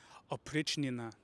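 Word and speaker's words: Oprichnina: It's called the Opichina. At least that's how you say it with an English accent.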